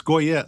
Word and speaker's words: Goyette: Yeah, it's Goyette. So, you pronounce the T and some people think, you know, you don't, but you do. Okay. Goyette. Goyet. Yeah. Like Corvette.